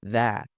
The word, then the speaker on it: that: Esse that aqui, mesmo ele estando no final da frase, em muitas vezes a gente não vai pronunciar esse T aqui. É muito comum você ver nativos não pronunciando esse T. E até o Sylvester Stallone aqui, o Rock, ele faz isso, tá? Ele fala that, do that.